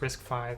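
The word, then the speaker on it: RISC-V: was pretty good risk five i know it's pronounced risk five but i'm going to say risk v until i die um but it was it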